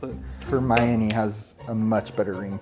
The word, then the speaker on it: Hermione: I think it was once the movies came out I knew how to pronounce it. Hermione has a much better ring to it.